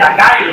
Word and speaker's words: açaí: La aronia es, después del mango y del acai o açaí, como se pronuncia, la fruta con mayor poder antioxidante del mundo, o sea, la tercera.